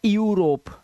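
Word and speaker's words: Europe: जैसे इ यू आ रहा है यहां पर यू तो इसे इयू नहीं पढ़ना। यूरोप। ठीक है? इसे पढ़ना है यूरोप। क्या पढ़ना है? यूरोप। क्योंकि इ यू एक साथ आ रहा है तो यू।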